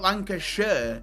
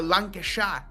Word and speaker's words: Lancashire: So it's not lancasher. It's a lancasha. It's a it's s h a lancasha. That's how you say it.